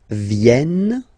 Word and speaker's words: viennent: Ils viennent. So remember this classic ending ENT for the third person of the plural is here, but phonetically it doesn't exist, so you don't pronounce it. Viennent, viennent, okay?